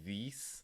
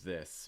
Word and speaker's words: this: this one this this so instead of saying this it's more this making sure that again you have that short eye this because i never did